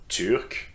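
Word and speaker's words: turc: Nationalities that are pronounced the same way, but with different spelling in masculine and in feminine forms. Okay, so I've got two examples for you. Turk, Turk, pronounced the same, but you see that the spelling is quite different.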